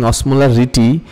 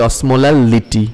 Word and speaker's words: osmolality: Remember, in any of this discussion, if I ever sound like pronouncing osmolarity, it's actually osmolality, right?